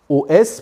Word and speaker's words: os: Le cheikh nous dit il convient de poser 7 OS, pluriel de os, mais qui se prononce O lorsque c'est un pluriel.